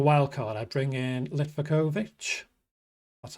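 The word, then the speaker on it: Livaković: If I was on a wild card, I'd bring in Litvakovic.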